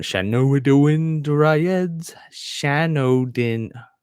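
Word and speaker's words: Shanodin: yeah here we go Shannon Shannon oh we're doing dryads Shan Odin I've been mispronouncing this my whole life Shan Odin dryads done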